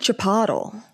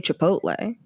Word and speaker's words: Chipotle: and Daniel was like every episode he pronounces a word wrong. He said chapatle.